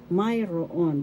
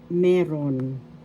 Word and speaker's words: mayroon: Mayroon, that means have or you have a property or there is. Colloquially, mayroon is pronounced as meron. Meron. First syllable me, second syllable ron.